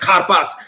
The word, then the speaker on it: karpas: Like when we were talking about karpas in our community, someone said, you know, it's like kar and pas. It's like karpas.